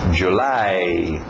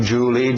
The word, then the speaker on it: July: final April mayi June July nada de Julie Julie é o nome próprio escrito de outro jeito July a o u